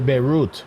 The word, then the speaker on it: Beirut: USS Charlotte They say Beirut. You got to say root.